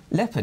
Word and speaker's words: leopard: Leopard is pronounced leopard, like leotard.